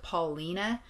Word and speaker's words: Paulina: It's spelled Paulina, but I believe it's pronounced Paulina.